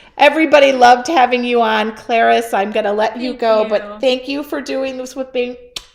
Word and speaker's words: Clarice: But Clarice rhymes with Paris.